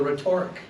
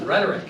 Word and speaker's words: rhetoric: class are you talking and they're like the rhetoric of the rhetoric of yeah yeah and i'm like it's not pronounced with torque it's the uh epitome of mispronunciation yeah yeah and so i'm like it's pronounced rhetoric and if you don't know how to pronounce